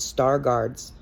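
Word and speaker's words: Stargardt: this disease is called star guards it's spelled St a r g a u r DTS it could be g a r DTS either way I am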